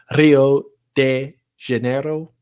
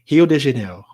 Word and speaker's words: Rio de Janeiro: R's aren't rolled. R's are pronounced H's. Like instead of it being Rio de Janeiro, or Rio. How would I say that? Rio de Janeiro. It's Rio de Janeiro.